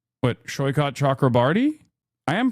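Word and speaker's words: Saikat Chakrabarti: For the love of God, please pronounce his name correctly, but Shoykot Chakrabarty? I am pronouncing his name correctly.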